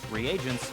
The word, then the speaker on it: reagent: In B, reagents. And in C, a variety of lethal chemicals. Have I been pronouncing it regents all this time?